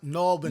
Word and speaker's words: New Albany: Paco just says, my hometown is New Albany. Pronounced Nalbany. Nalbany.